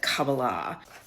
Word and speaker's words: Kabbalah: it has very little to do with legitimate Kabbalah, or as they pronounce it, Kabbalah.